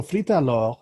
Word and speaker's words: Frite Alors: Okay, so while Jeff's looking at that, okay, yeah, I've looked this up, and so Frite Alors, which is how it's pronounced, if you want to use a nice French accent, they use a specific type of fries.